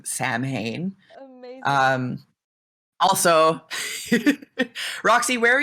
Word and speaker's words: Samhain: i hear people in tv shows or movies pronounce samhain as samhain i hate that so much and i was so excited when i heard you pronounce it correctly and say samhain and so my question is did you already